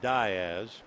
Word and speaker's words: Diaz: one and two count Matt Diaz instead of Diaz the reason his grandfather came over from Barcelona and they pronounce it die as so Matt waiting calano